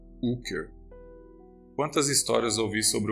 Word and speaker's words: Hooker: O Sr. Brooker pronunciava esse nome sem o H e esticando o U. Hooker.